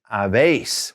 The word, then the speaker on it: habéis: And then that vosotros form is habéis, with that accent on the E, habéis.